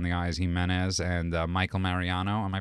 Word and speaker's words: Mariano: So we're in the studio with obviously Jennifer Easy on the Eyes, Gimenez, and Michael Mariano. Am I pronouncing it correctly?